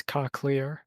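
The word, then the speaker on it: cochlear: It's cocklear. Cocklear.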